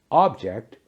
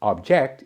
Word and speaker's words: object: Pronounced object, it's a thing you can see or touch. The object on the table was a vase or vase. Object. When it's pronounced as object, it's a verb.